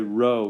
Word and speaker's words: rho: um row and and meaning it's a greek r pronounced row so why i'm even